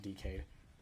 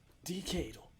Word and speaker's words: Decade: any more no but there's dk or decade whatever you want to say but it's basically pronounced decayed decade decade all right oh